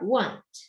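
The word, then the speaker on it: won't: 근데 얘는 줄였을 때 발음이 좀 신기해요. 따라하세요. want. willt이 아니라 뭐예요? want.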